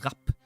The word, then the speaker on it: Rap: a single P, but it would be pronounced Rap as in like fast.